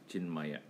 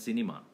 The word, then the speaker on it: Chinmaya: So the name that was given to Gurudev was Chinmaya. In Tamil language, they call him as cinema. Because Chinmaya, they don't pronounce the cinema.